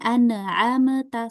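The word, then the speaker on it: أنعمت: Ya, jadi bukan an'amta, salah. Tapi kita alirin. An'amta. Sekarang Antuna baca yang ini. An'amta. An'amta. An'amta. Iya, jadi bacanya dengan dialirkan ya. Jangan sampai dipantulkan.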